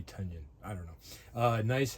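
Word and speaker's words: Tynion: I hear it rhymes with onion. That would be Tanyion.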